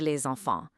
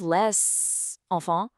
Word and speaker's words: les enfants: See how les ends with an S and enfant starts with a vowel? French speakers actually link those together with a Z sound.